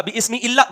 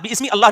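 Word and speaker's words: بسم الله: लेकिन जब लफ्ज़ अल्लाह कलाम के बीच में आएगा तो बिस्मिल्लाह होगा। बिस्मिल्लाह बिस्मि अल्लाह नहीं होगा।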